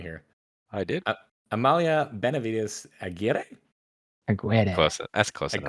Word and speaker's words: Aguirre: It's Amalia Benavides Aguirre. Aguirre? No, it's not Buena. There's no hue.